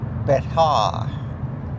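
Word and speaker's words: Bexar: And I should say it uh Betaar. That's what it's called.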